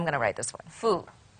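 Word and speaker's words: 福: Good luck, fortune, fu. Okay, fu. So fu has arrived.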